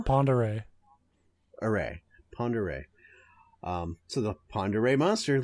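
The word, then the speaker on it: Pend Oreille: my current job, but I think that's pronounced Ponderay. Could be. It's the weirdest looking name. Because it's a nearby county to where I live. So well, there we go. We'll say Lake Ponderay. I call it Pend Oriel in my head.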